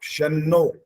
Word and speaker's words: शन्नो: नहीं बोल रहे आप शन्नो श बोलना होता है ठीक है शन्नो शन्नो हा स नहीं बोलना स अलग होता है